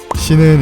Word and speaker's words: 신: 신은 일본어 발음을 기준으로 삼은 것이며 마음 심을 뜻합니다. 신이라고 읽을 때 영어 신의 발음과 비슷하며 이에 연관도 있어 보입니다.